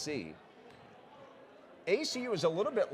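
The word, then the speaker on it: Tse: Spells it T-S-E, pronounced C.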